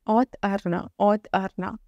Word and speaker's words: Auth Arna: Auth A-O-T-H Arna E-R-N-A-H Auth Arna And you have to pronounce it together. Auth Arna If you put intention like this.